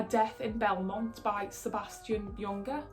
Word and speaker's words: Junger: It's called A Death in Belmont by Sebastian Junger. I think that's how you pronounce it. You usually don't pronounce the J.